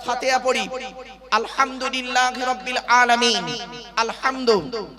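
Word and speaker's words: الحمد: আলহামদু। অনুরোধ করে বলছি উচ্চারণটা ঠিক করুন। আলহামদু। গলার ভেতর থেকে ফেটা উচ্চারণ করবেন।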